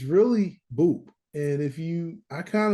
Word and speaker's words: BOUP: it but it's really Boop and if you I kind of let people say what they want to say but it's boot which rhymes with soup and you know what